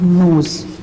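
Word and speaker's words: knows: For example, the word nose, K-N-O-W-S, nose and nose. This nose, as you can see, both have the different spelling, but if we are pronounce that word, they give you the same sound, nose and nose.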